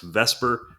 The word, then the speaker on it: VSEPR: located so now for the new stuff today vesper theory yes vs epr is pronounced vesper it's an acronym for valence shell electron pair